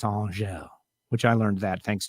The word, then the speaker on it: Angelle: I've always said Angelle. And now I know it's Angelle, which I learned that thanks to spending a little time down there.